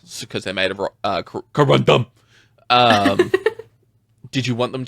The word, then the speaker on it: corundum: Okay, so they're made of how what was it pronounced? Sorry. Uh, corandum. Corandom think corundum.